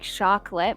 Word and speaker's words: Chocolat: You know, when you see your name written down, it's like chocolate, but then when you say it out loud, you're like, oh, like chocolate. Yeah. It's Right? actually Okay. pronounced chocolat. Chocolat.